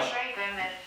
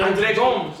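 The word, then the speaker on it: André Gomes: Pronounce it where he's from. He's Portuguese. No, don't. Andre Gomes.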